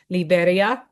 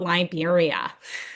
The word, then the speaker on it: Liberia: All us North Americans say Liberia, and my lovely host was like, "It's not Liberia." She's like, "That's not how you say it. It's Liberia."